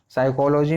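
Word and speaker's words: psychology: साइकोलॉजी में क्या हुआ, P साइलेंट है, SY से पढ़ा जाता है, और इसका जो P है, PSY में साइको का P पढ़ा नहीं जाता, ये साइलेंट होता है, इसका उच्चारण नहीं किया जाता।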